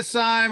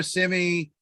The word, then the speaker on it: Syme: Yeah, Syme or Simi. Okay. You pronounce it the way you want.